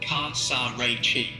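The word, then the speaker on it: casarecce: The stress lands on the second syllable of the last part. Can you say it again for me, please? Sure. It's pronounced casaretice.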